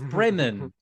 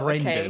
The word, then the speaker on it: Bremen: It's Bremen with an M in the middle, not Brendan.